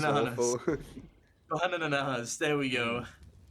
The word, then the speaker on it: BANANANAS: BANANANAS, there we go. Say it like the Vine, and you'll be fine.